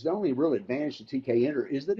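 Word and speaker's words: Tkinter: called tk interface or tk enter for short some people pronounce it t kenter and some say tinker for some reason i have no idea why but it's tk entered officially and uh that requires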